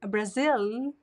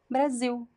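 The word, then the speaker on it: Brasil: have to remember that the L at the end of syllables they are pronounced as o o this is a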